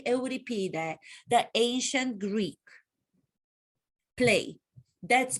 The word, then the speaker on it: Euripides: to play would be medea by euripides as the americans like to pronounce it medea by eurypida the ancient greek play